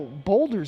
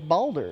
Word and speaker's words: Baldur: I know you're gonna play Baldur's Gate 3 Yeah, I gotta. Why I do you want to. say it that way? because that's all he talks about. No, boulders. It's Baldur.